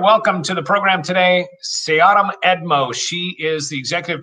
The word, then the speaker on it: Seahdom: And every single time I say your name out loud, Seahdom, I always think, is it Seahdom or Seahdom? So that's my first question. It's Seahdom.